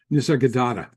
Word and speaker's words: Nisargadatta: Nisargadatta.